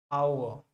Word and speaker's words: hour: तो कई लोग आवर बोलते हैं, कई लोग आवर बोलते हैं ना, जो सही प्रोनाउंसिएशन होता है आओ, आओ, आओ, ठीक है ना।